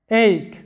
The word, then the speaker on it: ache: এইক, যেটার বাংলা অর্থ হচ্ছে ব্যথা। এখানে দেখো যে সিএইচ এর উচ্চারণটা হয়েছে ক এর মতো, চ না হয়ে উচ্চারণটা হয়েছে ক এর মতো, ACHE, এইক, যেটার বাংলা অর্থ